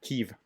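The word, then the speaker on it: Kyiv: in just a moment from the kiev post uh or keeve post i'm sorry i try to pronounce that correctly um they've been ordered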